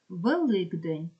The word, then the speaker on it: Великдень: варіант також не підходить Великдень підкреслена буква к а звук Ґ пам'ятайте Ґ к чому Бо дзвінкий впливає на нього А як же той